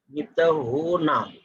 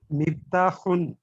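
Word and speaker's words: مفتاحٌ: এখানে হু, এটাকে বলে হচ্ছে যে হালকির হা বলে, এটা গলার মধ্যে থেকে উচ্চারণ করতে হয়।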